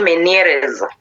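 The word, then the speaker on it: Ménière: Then uh the second one that I'm going to talk about it many's disease or you can say manes but I think the correct pronunciation there is many disease.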